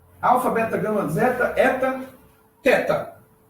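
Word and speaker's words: θῆτα: E é o caso da letra teta, tá? No grego clássico, ou seja, em Atenas, no seu período de glória, se pronunciava como um T forte, tá? Mais ou menos como a palavra task em inglês, né?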